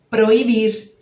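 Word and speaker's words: prohibir: A gente lê igualzinho. O que vai mudar? É que vai aparecer um H aí depois do O. É assim que a gente vai escrever. P-R-O-H e aí igualzinho ao português.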